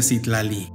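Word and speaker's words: Citlali: viene del wat es un nombre muy común en México aunque se pronuncia sitlali todo esto es sujeto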